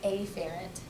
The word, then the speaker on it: afferent: We use the word afferent or afferent. I usually say afferent. That way I pronounce the A and I recognize that it's an A.